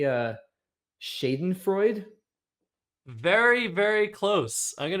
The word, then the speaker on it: Schadenfreude: Schadenfreude. Schadenfreude. So, you said Schadenfreude, very close, right? Yeah, I got the the A off a little bit, and I didn't get the separate syllable on the last E.